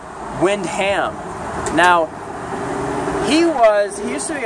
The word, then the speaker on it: Windham: It's not Wilhelm. Wilhelm, I was getting it confused with Mr. Wilhelm from Seinfeld. Mr. Wilhelm was George Costanza's boss. It's actually Judge Windham.